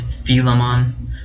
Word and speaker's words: Philemon: with the pronunciation here as far as my understanding it's feel em on I could be wrong